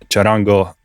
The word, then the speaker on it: Charango: I don't know why I'm sounding Italian there. That's not right. Charango.